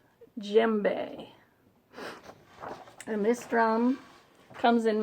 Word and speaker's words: djembe: So, let's move from Tibet to Africa and talk about my little djembe, spelled with a D, but pronounced djembe.